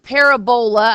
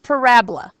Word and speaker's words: parabola: It looks like parabola, I get that, but it's pronounced parabola.